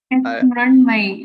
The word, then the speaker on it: Mrunmayee: Mrunmayee, you're pretty close. You're pronouncing it correctly.